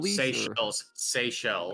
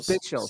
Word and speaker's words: Seychelles: I don't want to mispronounce it. The Seychelles. Seychelles.